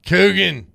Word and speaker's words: Coogan: Coogan. Coogan rhymes with Dugan.